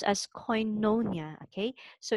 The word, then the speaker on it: koinonia: natin So Ito po Okay so it is pronounced as koinonia Okay so It's a Christian Fellowship so agag